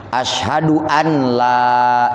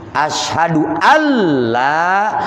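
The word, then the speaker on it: أشهد ألّا: all Lailahaillallah umpamanya bacanya Ashadu Ana tidak Alla Ashadu an la ilaha kalau an kan berarti dibaca Idhar kalau Alla berarti dibaca ID Gom nah apabila dibacanya anla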